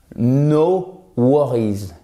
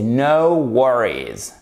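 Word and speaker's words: no worries: dites pas chers amis c'est d'éviter que vous disiez pardon no worry's non c'est now war is ok on se force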